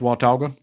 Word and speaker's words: Watauga: yeah it's watauga lake uh and it is pronounced watauga and you see the clouds kind of form